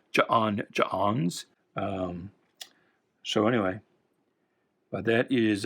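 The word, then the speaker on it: J'onn J'onzz: Always, like John Jones, the apostrophes there, I always pronounce it like hiccups. I always pronounce it as Ja'ons.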